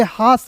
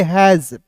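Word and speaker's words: has: बॉय उसके बाद देखिए यहां पे एच ए एस तो यहां आप देखेंगे हास नहीं पढ़ेंगे इसे पढ़ेंगे हैज।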